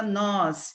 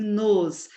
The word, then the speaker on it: nos: convosco o pronome oblíquo não se pronuncia nós e sim nos não tem um acento agudo não se pronuncia voz